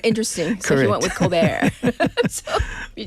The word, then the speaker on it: Colbert: interview like like, "So, Colbert, that sounds very French." And he's like, "Well, it's actually just Colbert, but I wanted to sound interesting." So, he went with Colbert.